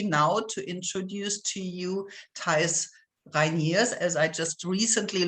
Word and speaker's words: Thijs: And I'm very happy now to introduce to you Thijs Reyniers, as I just recently learned how to pronounce this also German family name.